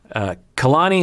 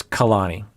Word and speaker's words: Kalani: Kalani and Asuelu videos. Sneffery says, to pronounce her name, Kalani, not Kalani.